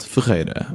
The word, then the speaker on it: Ferreira: person saying yeah what is hard about it is actually the two r's because we have one